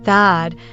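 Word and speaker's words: that'd: often win speaking and pronounce it as Thad kind of like short for Thaddius since everyone seems to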